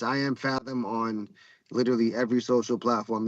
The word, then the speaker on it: Phathom: But yeah, it's I am Fathom on literally every social platform there is. Uh, I am M P H A T H O M. There is no N in the name.